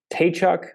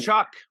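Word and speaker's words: Tkachuk: but then you look at uh is it taychuk I hope I'm pronouncing that right shock shock thank you for the for the for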